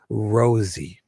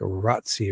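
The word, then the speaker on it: Rozi: And he's like, "R O ZI Rosie." And I always thought it would be like rotty or roty or something Italian, but he's going with Rosie.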